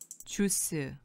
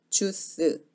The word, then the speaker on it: 주스: 들어볼게요 먼저 주소 들어볼게요 쥬스 쥬스 쥬스 쥬스 어떠세요 지금 줄 입술을 오물이 면 훨씬 영어 스럽게 들리고 입술을 오물이 지 않으면 주스 쥬스 이렇게 생기죠 물론 이 경우에는